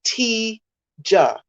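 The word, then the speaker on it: Tijahd: j h d and i was told that you say it like t ja so it's like you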